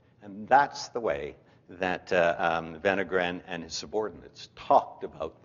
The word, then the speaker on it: Wenner-Gren: is for you Steve in Swedish w is pronounced as V thus venogram the protagonist in this